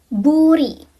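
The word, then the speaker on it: 불이: Kalau ketemu sama vokal itu dibacanya sesuai sama huruf aslinya yaitu R. Contohnya yaitu buri. Buri. R ketemu sama I jadinya buri. Burukan bul.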